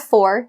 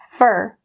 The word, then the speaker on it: for: Sometimes you'll also hear this, instead of for, you would hear it as fur.